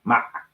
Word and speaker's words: Ma'at: And again, Ma'at is spelled M-A with a apostrophe, whatever that little symbol that goes up there over the A, apostrophe or something. I'm not quite sure. I didn't graduate school. I do humbly apologize. Okay. And then another A and a T, and they pronounce it Ma'at.